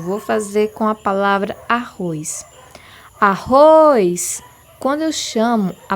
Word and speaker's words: arroz: Por exemplo, vou fazer com a palavra arroz. Arroz. Quando eu chamo a palavra arroz, é possível perceber que a última sílaba, o ROS, Z na verdade, ela tem maior força e maior intensidade.